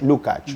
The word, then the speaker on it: Lukács: Muy bien, pues Miklos nos ha acompañado, Miklos Lukács, ¿cómo se pronuncia la vida? Miklos Lukács.